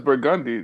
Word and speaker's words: Burgundy: How do yeah, we yeah, pronounce it? yeah. Well, I know it's Burgundy, Burgundy.